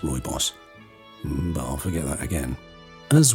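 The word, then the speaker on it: Rooibos: the south african tea i can never remember how to pronounce okay i looked it up it's roy boss i'll forget that again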